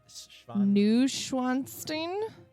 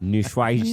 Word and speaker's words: Neuschwanstein: Neuschwanstein. Neuschwanstein? Yeah, Google this word that you will never be able to spell. Neuschwanstein. Neuschwanstein.